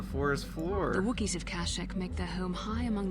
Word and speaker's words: Kashyyyk: So, for the longest time, I thought that Kashyyyk was pronounced Kashyyyk because of this game and other sources, but when Revenge of the Sith came out, they pronounced it Kashyyyk, and in all canon media, it's pronounced Kashyyyk.